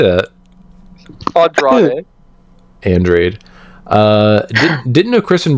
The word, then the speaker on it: Andrade: That's a reference to Andrade from AEW. Questioning MJF on how he knows something. How do you say that? Andrade.